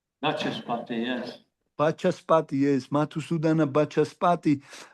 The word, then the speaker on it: Vachaspati: და მან ახსენა თავის საუბარში, რომ ერთ-ერთი ერთგული, რომელიც მათუსუდანა I find it difficult to pronounce. Mathusudana, what kind of name, Maharaj? Is that okay? Mathusudana Bhasaspati. Vachaspati, yes.